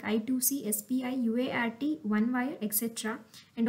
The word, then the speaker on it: I2C: one example is inter integrated circuit let us I to see bus the i2c why the name i2c is that it is pronounced ice pronounced two x and hence little